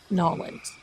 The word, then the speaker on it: New Orleans: But you know, when you're in New Orleans, Nollins, right? Wherever. When you're there in that beautiful historic city, the locals say Nollins.